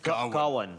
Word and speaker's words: Gawain: The name is, let's pronounce it, Gawain.